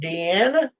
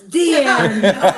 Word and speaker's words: Deanne: Hello, Deanna. Hi. Now I'm going to have to correct them. What's that? My name isn't Deanna. Well, help me. It's spelled Deanne. Deanne? Uh-huh. It's pronounced Dean. No, it's Deanne.